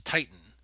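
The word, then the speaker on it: titin: It's Titan. Okay, kind of like the planet Earth.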